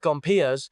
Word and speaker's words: Gompers: Then, the American Federation of Labor under Samuel Gompers, say it like Gompers, went narrow.